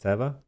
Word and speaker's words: Teva: You said it's pronounced Teva. Uh, Teva. Yeah, apparently Teva. Okay. Teva. According to their marketing, uh, according to their market material.